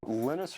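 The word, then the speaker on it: Linus: speak Finnish it's lenus when I speak English it's lonus and I really don't care how people pronounce my name but Linux is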